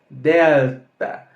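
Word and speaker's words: δέλτα: Delta Olha que interessante da mesma forma que pronunciamos Alfa também pronunciamos Delta diferente do que que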